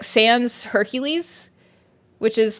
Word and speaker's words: Hercules: the Gods like sans's Hercules which is like Heracles in Latin or yeah the Roman pronunciation is Hercules whereas the Greek one is Heracles uh gree just don't